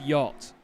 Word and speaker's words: yacht: get into the word yacht because it's just the most backward the C and the H is silent the a is pronounced like a completely different vowel it's just it's got